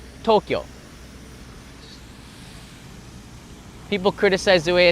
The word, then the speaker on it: Tokyo: Two syllables. Tokyo, not Tokyo. Tokyo.